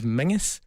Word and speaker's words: Menzies: and for all those outside of Scotland as well, for some inexplicable reason, we pronounce the word Menzies as Mingus.